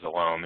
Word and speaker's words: Villaume: you can see that my name is pronounced vom in case you are wondering and um I'm also